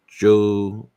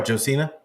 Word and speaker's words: Josina: Also, real quick, I believe her name is Josiana Anderson from NFL Network. Oh, Josina Anderson. Sorry, yeah. I always get her name wrong, but anyways, she basically you gotta roll the S.